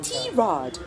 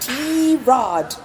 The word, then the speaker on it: Tirade: a goal for Tomboy Tirade, Asia's first and only English comedy chat podcast. And mind you, it's pronounced Tirade, not tirade or tirade or however else you want to call it.